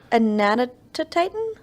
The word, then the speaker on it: Anatotitan: This is the Anatotitan, a name that means Wait. giant duck. Anatotitan? Anatotitan. Where's the toe? T-O. It's A-N-A-T-O-T-I-T-A-N. Anatotitan. Okay, there it is.